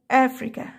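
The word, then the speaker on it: Africa: ايه قاره افريقيا اسمها افريكا افريكا افريكا افريكا والسي هنا نطقتها عشان السي مش جاي وراها الاي ولا اي ولا واي عشان طيب غابه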